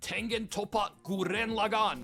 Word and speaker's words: Tengen Toppa Gurren Lagann: Is definitely Tengen Toppa Gurren Lagann. And yes, that is the only acceptable way of pronouncing it.